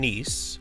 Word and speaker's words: Kneese: host it I'm nice it's a nice silent k k n e e s e or you can call